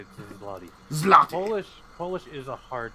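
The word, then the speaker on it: złoty: Zloty.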